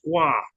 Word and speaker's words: Goy: Goy." And she's like, "Oh, it must be your first time because his last name is pronounced gu, you know."